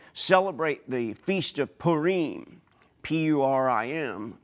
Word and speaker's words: Purim: the Feast of Purim, P-U-R-I-M, Purim sometimes pronounced, they are remembering this great deed that Queen Esther did.